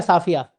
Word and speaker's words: सफिया: तो कैसे नाम कैसे प्रोनाउंसिएशन करते हैं आप? सफिया । सफिया या साफिया?